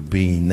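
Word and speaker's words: בין: much about this but the word is b-i-y-n in Hebrew being is how it would be pronounced and it means not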